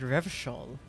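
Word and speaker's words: Revachol: He pronounces Revocol with a hard K, unlike other people. Yeah, everyone else pronounces it Revshol.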